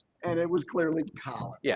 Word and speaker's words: Colin: Why are they pronouncing it? Why are you calling it Colon?